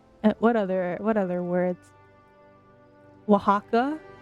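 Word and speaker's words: Oaxaca: Wajaka. is Axaka, you know, pronouncing it completely wrong.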